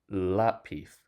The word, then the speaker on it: lápiz: Lápiz ends with a Z, but the stress falls on the second to last instead of the last.